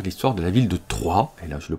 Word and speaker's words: Troyes: invitent à découvrir l'histoire de la ville de troyes et là je le prononce à la française au cours du moyen